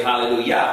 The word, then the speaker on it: hallelujah: actual sound that we get the the j in english but the um german sound would be the same as this y so we say hallelujah but we spell with